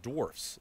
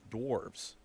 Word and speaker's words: dwarfs: though first is that it's pronounced dwarfs not dwarves second is that these